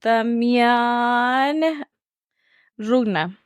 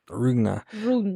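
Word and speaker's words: Demián Rugna: So Demian Rugna is how you say his name? Demian Rugna. Rugna.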